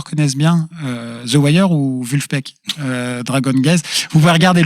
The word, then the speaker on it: Vulfpeck: complètement joyeux complètement dansant alors assez dur à prononcer ça s'appelle vulfpeck V u l f p E C K